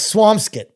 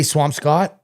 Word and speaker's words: Swampscott: Now I say both ways. I say swampscott and I say swampskit. I was say I out of nowhere without thinking about it I said swampscott. And someone said to me, "You're a rever boy. You say swampscott.